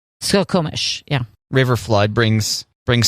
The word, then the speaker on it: Skokomish: salmon crossing how do you say that skokamish skokomish skokomish yeah river flood brings brings salmon to the